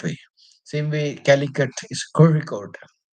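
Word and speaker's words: Kozhikode: second letter yeah that one you have to pronounce it that way same way calikat is kicode it's not ky code even though the z h is written that's a typical word for maladam.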